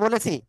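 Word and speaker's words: باء: হব হ্যা ওকে দেখেন দুই ঠোট দুই ঠোটের ভিজ অংশ থেকে এ অক্ষটা উচ্চারণ হবে বা কয় আলিফ টান হবে এক আলিফ এখন এক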